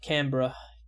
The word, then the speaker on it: Canberra: Also, Canberra is pronounced Canberra. Canberra, okay, that's how I should say it now. Canberra.